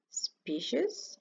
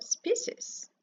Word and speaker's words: species: skiers tests but actually there are two pronunciations out here you have a species or species best listen and the